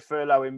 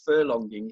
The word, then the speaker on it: furloughing: Most people don't even know how to pronounce it. So most people are referring to it as furlonging, and I keep thinking about the horse races.